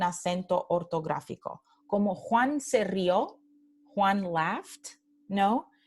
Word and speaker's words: rió: Como Juan se rió, Juan laughed, ¿no? Se rió aquí, no tenemos un acento aquí en la O, porque la palabra es una sola sílaba, ¿no?